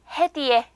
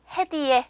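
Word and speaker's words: hediye: 단어 선물이란 단어 나왔죠 선물은 터키어로 해에 비해 해에 비해 요렇게 읽어 주시면 되요 차 그 다음에 또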